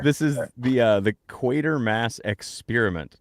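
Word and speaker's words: Quatermass: This is the uh the equator mass experiment. Not quarter mass, equator mass. But it's spelled like quarter without the r.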